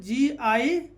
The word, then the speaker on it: guile: जैसे यहाँ पर GUILE, तो यू के बाद क्या, आई क्या है, वोवेल, तो यू क्या हो जाएगा यहाँ पर, साइलेंट। तो यू साइलेंट होगा तो GILE, तो क्या पढ़ेंगे, गाइल।